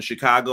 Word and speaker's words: Chicago: like you know like when people add ours in Chicago I'm like chicag Chicago what are you talking about I'm not even from bro my mom used to say it like that yeah I'm like there's no R though where did this come from so we're we go